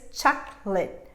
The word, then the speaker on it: chocolate: that would be late is in fact a schwa sound it's reduced and what i'm going to say is chocolate chocolate i'm going to cut